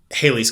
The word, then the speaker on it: Halley's: we're talking like getting closer to haley's comment or halley's comment depending on how you want to pronounce it and based on his